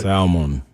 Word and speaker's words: salmon: There's an L in the word. There's an L. Yeah, you just don't pronounce it.